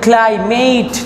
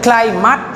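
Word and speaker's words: climate: দেখো এটা কিন্তু ক্লাইমেট না, এটার উচ্চারণ হচ্ছে দুইটা, একটা হচ্ছে ক্লাইমাট আর একটা হচ্ছে ক্লাইমেট, এই দুইটা উচ্চারণ হচ্ছে এটার।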